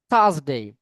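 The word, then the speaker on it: Thursday: থার্সডে, থ, থ sound মনে রাখবেন, ইংলিশে দুই ধরনের সাউন্ড আছে, থ এবং দ। এই দুইটা কিন্তু টিএইচ দিয়ে লিখি আমরা, না? টিএইচ উচ্চারণে কি থ অথবা দ, এটা সিচুয়েশন অনুযায়ী ডিপেন্ড করবে, কখনো থ কখনো দ। এই দুটি স্যার উচ্চারণ করার সময় থার্সডে, থার্সডে, মানে আপনার জিহ্বার অগ্রভাগটা দুই দাঁতের মাঝখানে।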